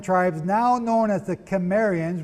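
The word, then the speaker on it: Cimmerians: now known as the Khmer ian's with a hard C CI mm er ia n were migrating up what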